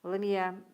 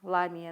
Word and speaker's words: Ламия: Ламия. Ударение на А. Ламия, да?